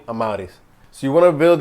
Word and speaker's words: Amauris: What's up everybody, Amauris here, and that's how you say my name, Amauris.